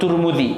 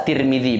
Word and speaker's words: Tirmidzi: yang pertama diriwayatkan oleh Al Imam turmudzi bisa turmudzi bisa Tirmidzi bacanya dan diriwayatkan oleh Al Imam